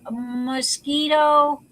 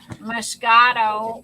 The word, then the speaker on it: moscato: it's called sweet it's it's a mosquito i'm sorry that is not mosquito but that's the way it's spelled moscato it's italian moscato it's spelled like mosquito okay why in english